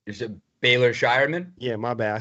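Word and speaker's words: Baylor Scheierman: Is it Baylor Shireman?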